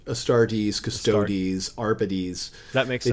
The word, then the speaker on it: Astartes: I think that's it I've heard it pronounced both ways by people at Games Workshop is it adeptus a startus or adeptus astartes they do tend to go with the e's at the end a stardees custodies arpitis that makes